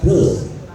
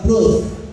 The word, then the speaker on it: growth: Jadi tipe mindset yang fix yang growth. Jadi bacanya fix. Yang kedua, growth. Kalau baca growth itu giginya, lidahnya harus menyentuh gigi atas. Grow. Kalau tidak menyentuh pasti salah. Jadinya grow.